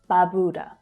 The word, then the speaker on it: Barbuda: So there are two long vowel sounds here, ba and boo. But it's the second one that's stressed, so it's pronounced a little more strongly, a little clearer. And finally, the last syllable is an unstressed syllable, d.